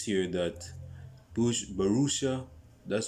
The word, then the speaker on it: Borussia: That is basically Dortmund's attitude at this moment in time, because it says here that Borussia, that's how it's pronounced.